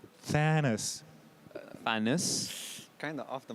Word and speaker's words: Thanos: you t-h-a-n-o-s right yeah but you say like it's an e you're fantastic no because any people that watched whatever man you keep going okay can you pronounce it thanos there we go that's the one okay like like oh